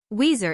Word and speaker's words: Wazir: Wazir is an Arabic word, and is pronounced by the Arabs as I have written it. But the Turks and Persians pronounce the first letter V.